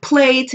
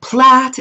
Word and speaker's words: Plait: clear up any confusion I've seen people say don't pronounce it plate it's wrong or don't pronounce it Platt is wrong well honey they're both right and it's an area